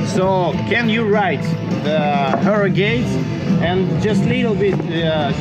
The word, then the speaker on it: Harrogate: Harrogate.